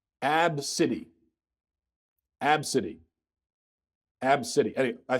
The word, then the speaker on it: ABCDE: ABCDE that's what she names her daughter it's pronounced AB City AB city ab city I think abs abs